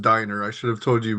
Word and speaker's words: Dynner: I just want to say, my name is actually pronounced Diner. I should have told you beforehand. So it's actually Dynner.